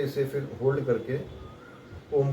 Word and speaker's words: ओम: इसे फिर होल्ड करके ओम का उच्चारण करना है। ओम, ओ बोलने के म का जो उच्चारण आता है, तो म को धीरे धीरे धीरे धीरे धीरे धीरे समाप्ति की ओर ले जाना है।